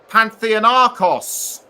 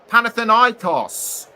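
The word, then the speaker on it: Panathinaikos: for pan plays for Pantheon Aros uh or is it panth panthan iOS there I've said there I've said it right so onto so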